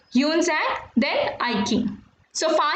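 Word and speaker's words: Xuanzang: Buddhist pilgrims Fa Yan, Yunzang and I King. X is to be pronounced as H. So you will read this as Fa Yan and this is Yunzang and I King.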